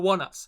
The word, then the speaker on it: ONEUS: and unfortunately that it three times for for one us that's how we pronounce it by the way when i first